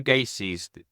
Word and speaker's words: Gacy: So Joe Gacy's, is it Gacy?